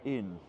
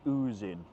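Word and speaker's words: Ouse: Now when I first read it I was going to say in but luckily the lovely wandering Englishman advised me that I was pronouncing it wrong. And it's the oozing.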